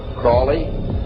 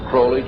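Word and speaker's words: Crowley: learned about was Alistair Crawley he likes to bring have his name pronounced crley to rhyme with holy and uh the Satanist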